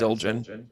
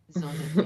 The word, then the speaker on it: Zildjian: Um, And it is pronounced Zildjian. Yes, tart and spice. Zildjian, yeah.